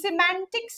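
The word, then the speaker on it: semantics: তো সিম্যান্টিক্স কথাটার প্রোনাউন্সিয়েশন কিন্তু সেমেন নয়, ইটস সি, এস আই দিয়ে হবে।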